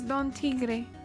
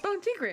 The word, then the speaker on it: Don Tigre: address them properly as Don Tigre on an otherwise I'll have to okay okay don't think gray of course I'm sorry you have to say it right with the rolled R like pink Gray he saved her life